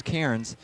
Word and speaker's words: Kairens: We've been saying Kins it's Kairens and we do apologize to him and his family.